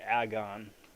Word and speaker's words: Aegon: got darkhawk we got aegon and i don't care that his name is supposed to be pronounced agon should let bygones be bygones and just call him aegon officially nonetheless again nonsense